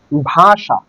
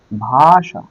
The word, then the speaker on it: ভাষা: তালব্যস যেমন বই থেকে উদাহরণ দিয়ে বলি যে ভাষা ভাষা এই যে মূর্ধন্য থাকলে এই ভাষাটার উচ্চারণ কি হয়ে যাবে ভয় আকারে ভা তালব্যস